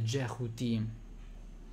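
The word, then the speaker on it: Djehuty: il dio tot che in egiziano si dice Si pronuncerebbe jhuti e che è anche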